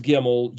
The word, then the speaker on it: gimel: word Geo because the gimmel is our third letter in English the letter c but it's pronounced like the G but basically the word